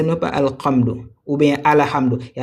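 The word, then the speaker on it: الحمد: On répète alam. OK. Ha et ce n'est pas alam ou bien al hamdou. Il y a certaines personnes qui vont dire ala. Ce n'est pas ala, c'est al.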